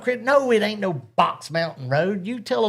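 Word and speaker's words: Beaux: They There's a road here that's spelled b e a u x Mountain Road. I was but I first I I was I seen Bow Mountain Road BUT IT'S BOX MOUNTAIN ROAD.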